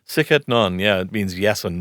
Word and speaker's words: Sic et Non: So you also have a blog on Patheos called, and correct me if I'm pronouncing it wrong, Sic et Non? Sic et Non, yeah.